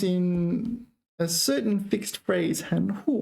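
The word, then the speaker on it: 含糊: 含糊, but you pronounce it 轻声, right? I don't think you would pronounce it second tone second. 糊 meaning unclear, like blurry. Now, 含糊. So if it is, yeah, I do not think you would pronounce that second tone second tone. It would always be second tone 轻声.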